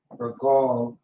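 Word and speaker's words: רגל: Regal is how you would pronounce this.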